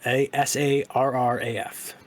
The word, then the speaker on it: Sarraf: Let me get his last name just to make sure I'm pronouncing it correctly. Saraf. Sarraf.